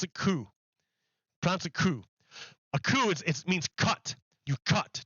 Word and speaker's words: coup: it has rules but in this word you don't say the last consonant so it's you say ku you pronounce it ku it means cut you